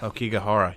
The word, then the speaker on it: Aokigahara: Aokigahara. Yeah, that's it. We're going to be talking about the Aokigahara Suicide Forest.